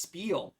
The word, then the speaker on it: Spiel: him and he's like actually the game is pronounced Spiel not spell so so that's legit